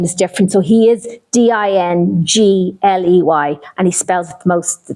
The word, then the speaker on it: Dingley: I'll tell you, his family name is Dingley, Dingley.